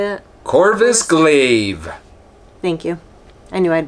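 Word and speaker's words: Corvus Glaive: more about these how do you say that corvis glaive thank you I knew I'd butcher it I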